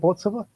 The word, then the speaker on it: Bortsova: With me, I have Stuart Robertson from Dentons and Bortsova. Am I pronouncing that right? Is it Bortsova? Yes, that's right.